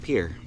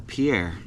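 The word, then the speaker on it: Pierre: of Pier South Dakota that's pronounced Pier if you're local or Pier if you're not but I do like Pier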